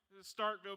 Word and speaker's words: Starkville: Starkville, Mississippi.